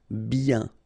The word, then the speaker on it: bien: Ok remember when you get this combination of I e n you get the sound y ok then b bien en forme brumeux ok